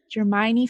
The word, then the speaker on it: Dramione: And I am going to pronounce it so wrong. Dramione? Dramione fan fiction? Dramione fan fiction, yes.